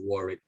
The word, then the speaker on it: Warwick: would be warwick so you don't pronounce the w in the second one so you don't say a word wick when you say warwick so you sort of a double r and the warrick i think it's it